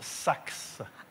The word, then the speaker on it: Sache: Présent, madame, mais je suis désolée, ça se prononce Sax.